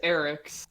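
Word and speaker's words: Eraqus: i'm pretty sure it's eric's is how they pronounce it in the game so they call him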